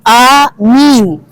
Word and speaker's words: Amin: kan hanya Amin iya sedangkan Amin di dalam urusan salat itu Amin a-nya panjang nnya panjang artinya Semoga